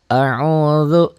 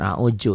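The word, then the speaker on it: أعوذ: A'udzu, jangan a'uju ya.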